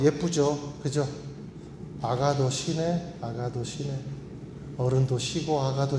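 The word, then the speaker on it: ἀγαθωσύνη: 아가도 시네. 아가도 시네. 어른도 쉬고 아가도 쉬고 나가도 쉬네. 예, 뭐 이런 의미가 있습니다. 이렇게 발음을 하는데이 의미가 뭐냐면 양선이란 것은 어, 이해하기 쉬워요.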